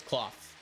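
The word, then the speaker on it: Klawf: Axew is 2 syllables because it goes Axew, whereas Cloth is 1 syllable because it goes Cloth, like just like a hard like stopping point.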